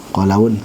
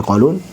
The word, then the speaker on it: Qalun: Maupun riwayat Qalun, yaitu kelebihan a, Qalaun, harusnya Qalun.